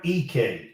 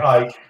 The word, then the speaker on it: Ike: EK it's EK gr EK is how you pronounce and he's the transfer from Wyoming um he started his career at Wyoming it looks like Ike but it's e three-point shooting to me